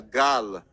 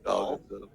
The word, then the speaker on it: Gal: welcome, Gail Gadot. No wonder he wasn't the announcer for long. No, Okay, welcome, Nicolas Cage. Gail Gadot. She's not in her 20s. Also mispronounced her. Yeah, it's Gal or Gal.